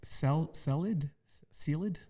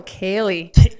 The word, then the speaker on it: ceilidh: It's called the Sealed. So anyways, it's a kitchen party. So I butchered it. It's CEILIDH. Oh, a Kaylee.